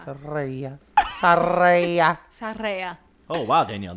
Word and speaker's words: Tsireya: It's Tsireya. Soraya. I'm Soraya. gonna name my daughter Saraya. that. You have to roll your R. Saraya.